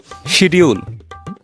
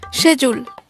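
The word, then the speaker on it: schedule: শিডিউল যেটা ভুল উচ্চারণ। এটার সঠিক উচ্চারণ হবে কি? সেচুল। আবার বলো। সে চুল।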